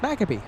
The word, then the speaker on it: Maccabee: He says you do pronounce his name correctly. Did I say it the same way you do? Bruce Maccabee.